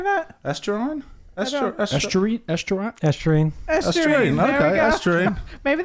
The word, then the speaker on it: estuarine: Estuarine?